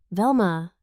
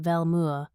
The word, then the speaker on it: Velma: "Velma," she repeated, pronouncing it Velmua with a slight grimace as though the name itself tasted unpleasant.